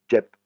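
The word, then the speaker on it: เจ็บ: Jep, hein, vous voyez, c'est le et c'est bien une voyelle courte.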